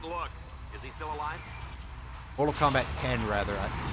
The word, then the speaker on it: Mortal Kombat X: Mortal Kombat 10, rather. I see a Roman numeral X, and I'm just immediately inclined to pronounce it as X.